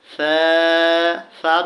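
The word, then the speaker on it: ث: আলিফ আলিফ বা তা সা যখন বলবো নরম করে বলবো আমাদেরকে খেয়াল করে বলতে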